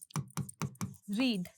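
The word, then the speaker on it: read: रीड रीड रीड like रीड आर इ ए डी आर इ डी आर ए डी बट इनका pronunciation अलग होता है। रीड रेड रेड।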